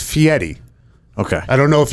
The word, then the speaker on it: Fieri: give me a yes give me a pronunciation here it's fiery okay i don't know